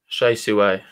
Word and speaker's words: Hsieh Su-wei: Is it Hsieh Su-wei? Yeah. It rhymes, so it's easy to remember. Hsieh Su-wei.